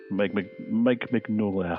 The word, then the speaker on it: Mignola: Mike Mignola, I think it's pronounced, Hellboy creator.